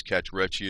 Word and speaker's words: cachexia: Cachexia is how you say it.